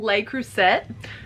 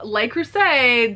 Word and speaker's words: Le Creuset: I found some Le Creuset Le Creuset. Maybe you don't pronounce the T because that's French.